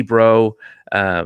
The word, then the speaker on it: Breaux: Dee Bro, spelled like the most Louisiana bro, Breaux, was the last head coach I found info on.